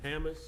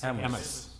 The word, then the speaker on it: Hammes: It's just Hammes. No, this is Wisconsin. If something has an obvious pronunciation, you guys have to pronounce it a little bit differently.